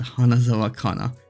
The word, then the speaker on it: hana: or flower in Japanese hana mean is in Finnish pronounced the exact same way hana and it's it's it